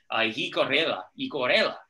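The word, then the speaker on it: llicorella: It's actually one of my favorite wine soils to pronounce because you get to lean into a double L. It's called Jicorela.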